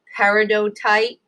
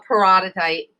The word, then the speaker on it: peridotite: Now, what's really cool is the mantle is made up of this really cool rock called peridotite or peridotite. Some people like to pronounce it like that.